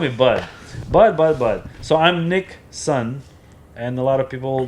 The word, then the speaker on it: Nikson: me personally, like direct, they'll call me NIKSON, and it's not like spelling the same as Nixon, like the president, but it's Nick. My name is spelled as Nik, because it's Nick, short for Nikolai, and then son is